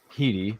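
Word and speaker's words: Headey: cast too with uh Lena heii I believe it's how you say her name I'm sorry Lena HEI Thomas Decker who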